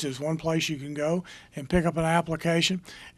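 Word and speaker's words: Geaux: word dot o RG or go vote but it's spelled the south Louisiana way GE aux and then v 0 te but it's all one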